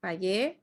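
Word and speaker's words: pagué: from the verb pagar page i paid the bill with my credit card okay so the g you that you don't pronounce the u just a g so page okay and some verbs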